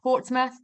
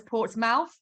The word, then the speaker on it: Portsmouth: at the University of Portsmouth it is written as port's mouth but it's pronounced as Portsmouth um here in the UK and the time now